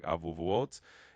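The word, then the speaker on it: אבעבועות: So that would be pronounced something like avuvuot.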